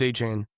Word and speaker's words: Etienne: It's it's weird. It's H-Chain. He wants to pronounce the same as Devon A-Chain. All right.